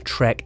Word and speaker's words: Trek: brand's all-round race bike no it's not the track admin or edamame it is the trek emonda accessory brands are